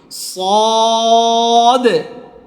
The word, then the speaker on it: ص: এখন এই যে হরফটা, এই হরফটা কি হবে, মোটা হবে, সদ, উচ্চারণ সদ, সদ। হ্যাঁ, সবাই বলার চেষ্টা করেন, সদ, সদ এমন না, আমি কিভাবে বলতেছি একটু টান দিয়ে সুন্দর করে, সদ, সদ।